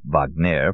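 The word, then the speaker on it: Wagner: for years had been practicing in Paris hence the pronunciation Vagner for those who wanted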